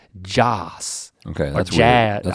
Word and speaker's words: Jas: It's Jas, like short for Jason, maybe. But the way that he says his name is like Joss.